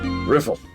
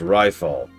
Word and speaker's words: Riffle: Riffle. Hey, you private second class. My name is pronounced rifle. Rifle. It's not that difficult.